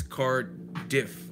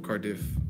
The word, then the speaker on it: Cardiff: I was emphasizing the if, Cardiff. Yeah, okay. It's just like it's spelled.